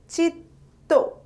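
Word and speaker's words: চিত্ত: It is pronounced as chitto and spelled as choi roshoikar, toi chitto.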